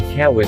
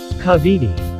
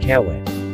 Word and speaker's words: Kawit: It was mispronounced by the Spaniards as kawit or Kavidi, there being no K in the Castilian alphabet, then changing W to V so as to conform to their accentuation.